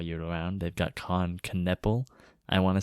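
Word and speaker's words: Knueppel: They that Kon Knecple.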